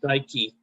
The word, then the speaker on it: Dike: If you look on the top of page 10 here, Dike, delta iota kappa epsilon beta, excuse me. It rhymes with Nike.